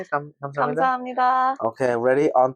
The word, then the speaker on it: 감사합니다: 감사합니다. Okay, ready? On 3. 1, 2, 3. 감사합니다.